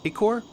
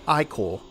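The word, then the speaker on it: ichor: blossoms you maim vented isn't it pronounced Ecore now it's pronounced I call all right one more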